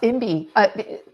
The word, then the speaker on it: Imby: Yeah, Imby.